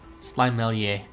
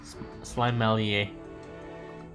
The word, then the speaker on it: Slimelier: A as in cake. A. Slimelier. Slimelier.